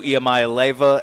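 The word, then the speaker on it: Iamaleava: who just won a Heisman you have Nico yamay Lea at uh Tennessee that's how you say it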